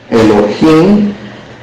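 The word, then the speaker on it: אֱלֹהִים: para iniciar Génesis 1 en hebreo se dice Elohim así se dice la primera palabra Entonces ese versículo se escribe o se pronuncia meor yo en esa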